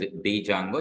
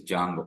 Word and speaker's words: Django: Then Django don't call it as Django it is Django pronounce it as Django which is Python framework.